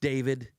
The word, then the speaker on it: D4VD: His name's David. It's spelled D4VD, which, I don't know, it sounds like devil for venereal disease, if you ask me, but whatever, that's his name.